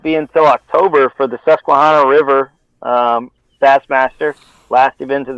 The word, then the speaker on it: Susquehanna: He comes alive in those how do you pronounce it again? The Susquehanna, yeah.